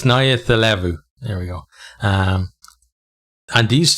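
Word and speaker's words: Nayacalevu: Somebody told me how to pronounce this. It's Nayathilevu.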